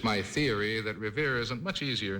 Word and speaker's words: Revere: Well, but Revere has got a Revere is good. Yes, it has a nice ring to it. Nice ring there. It rhymes with here, which is important to it.